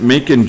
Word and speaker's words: Macon: four yeah number one macon is how you pronounce it making georgia it's 45.